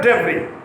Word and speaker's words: debris: Scattered debris, D-E-B-R-I-S. S is not pronounced.